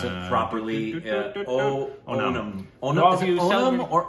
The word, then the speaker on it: Onam: I want to pronounce it properly. Onam.